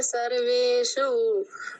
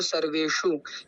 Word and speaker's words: सर्वेषु: कि आपने देखा होगा आयने शु और सर्वेश तो इसके अंदर मुर्धन्य सकार है और मुर्धन्य सकार की